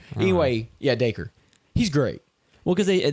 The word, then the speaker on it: Dacre: So it goes to Billy, which his name is Decray Montgomery. Is that how you say it? I always mispronounce it. Dacre. Anyway, yeah, Dacre.